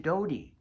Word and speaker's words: Doty: kitten it was d-o-t-y dotty but she pronounced it dodie seven three six five